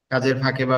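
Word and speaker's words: باء: লেগে হালকা বাতাস বের হবে। আলিফ আলিফ আলিফ আলিফ এরপরে আমাদের দুই ঠোটের নরম জায়গা। দুই ঠোটের নরম জায়গা একসাথে লেগে উচ্চারণ হবে। বা বা বা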